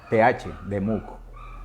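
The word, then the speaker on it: דְּמוּת: Se escribe D-E-M-U-T-H, demuk.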